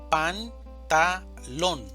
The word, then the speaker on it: pantalón: Pantalón, división silábica. Pantalón. Sílaba tónica. Lon. Pantalón.